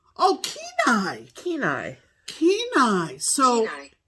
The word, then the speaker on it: Kenai: Do you want to hear how it's pronounced? Yes. Kenai. Oh, Kenai.